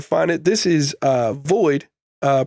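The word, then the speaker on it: VXIIID: on where to find it this is uh void uh pronounced void spelled uh voxed v x i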